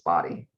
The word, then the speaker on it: Bodie: pronounced body or body it's spelled b-o-d-i-e it's body and a lot of